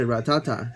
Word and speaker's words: Rattata: tell you the pronunciation I think it's a ratata not rat attacks but you never know